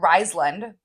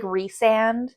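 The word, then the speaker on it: Rhysand: I call him Rysland. There's no L. That's wild. The whole 5 books. Isn't it actually like Rysand?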